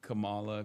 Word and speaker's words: Kamala: That is how you say Kamala.